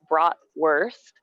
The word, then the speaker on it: bratwurst: So it's spelt like bratwurst, but in German, the W is a V sound.